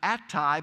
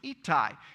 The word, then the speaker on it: Attai: We pronounce it Attai, but over in Israel it's Ittai.